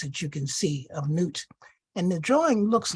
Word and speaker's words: Nut: The Egyptians felt that the Creator was a woman, and the woman of the universe, her name is Nut, pronounced NWT.